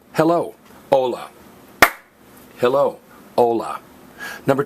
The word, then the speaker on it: hola: But do notice, it's spelled H-O-L-A, but it's not pronounced hola, it's pronounced hola. If you say hola, you're in a whole lot of trouble. Because what is the only silent letter in Spanish? H.